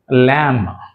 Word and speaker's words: lamb: ఎం మరియు B combination లో వచ్చినప్పుడు బి అనేది సైలెంట్ గా ఉంటుంది చూడండి లామ్ సో లాం లామ్ అన్నప్పుడు ఇక్కడ మనం బి ని